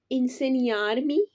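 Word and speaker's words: insegnarmi: मुझे सिखा सकते हो अब आप देख सकते हैं कि इसमें जी जो है वह साइलेंट है लेकिन हम थोड़ा सा साउंड इस तरह से रखते हैं कि पई इन सनि आर्मी क्या तुम मुझे सिखा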